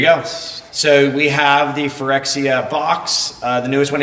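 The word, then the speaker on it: Phyrexia: latest and greatest the newest set which is forexia right I'm pronouncing it correct yes for xcl all will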